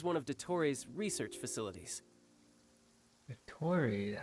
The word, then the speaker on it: Dottore: Dottore, that's how you pronounce his name.